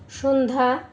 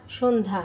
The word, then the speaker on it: সন্ধ্যা: যুক্ত ব্যঞ্জনের সঙ্গে থাকা জ ফলা এর কোন উচ্চারণ হয় না। যেমন সন্ধ্যা সন্ধ্যা স্বাস্থ্য স্বাস্থ্য অর্ঘ অর্ঘ র বর্ণের উচ্চারণ বয়শূন্য র বর্ণের উচ্চারণ।